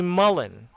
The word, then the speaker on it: Mullen: name is wayne mullen say mullen okay mullen is a typical uh british or american family name all right it's mullen okay next next word is